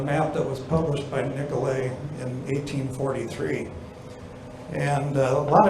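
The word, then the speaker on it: Nicollet: Talking about Joseph Nicolet, or as we pronounce the street named after him, Nicolet.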